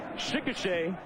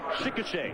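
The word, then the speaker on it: Chickasha: He's from Chicochet, Oklahoma. That's how you say it. Chicochet.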